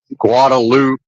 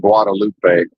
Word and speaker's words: Guadalupe: Can't see the drag from here, which is Guadaloop. And yes, they do pronounce it Guadaloop. Not Guadalupe.